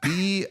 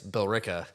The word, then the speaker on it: Billerica: Billerica. So it's kind of like America, but it's Bill Erica. Sounds like Billerica. It's Billrica. Oh, Ricka. Bill Ricca.